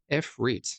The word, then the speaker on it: Ifrit: Ifrit.